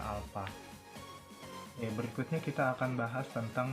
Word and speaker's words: alfa: Momen inersia disimbolkan dengan I besar, dan percepatan sudut disimbolkan dengan seperti ini membacanya alfa.